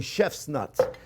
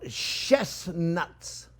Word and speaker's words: chestnuts: I have to say that very carefully to make sure I don't pronounce it wrong. Because the other day in my class, they thought I was saying chef's nuts. No, chestnuts.